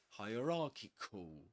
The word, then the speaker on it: hierarchical: this case it's not ki, but kikul, kikul, hierarchical. Okay, so perfect. And this is the phonemic transcription. This is the technical pronunciation.